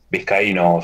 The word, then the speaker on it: Vizcaíno: Ahí está, me gustó, Vizcaíno. Este es el típico que pongo ahí. Vizcaíno, tengo... profe. ¿Eh? Vizcaíno se pronuncia. ¿Vizcaíno? Ah, no vi la tilde, perdón.